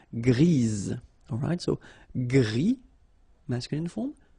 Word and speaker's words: grise: So when you add this E, basically it gives you the pronunciation or the possibility to pronounce the previous letter here. It's Z. Grise.